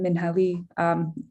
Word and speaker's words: Minha Lee: As Igor mentioned, I am Minha Lee. Yes, the name is pronounced a little differently than what you might envision.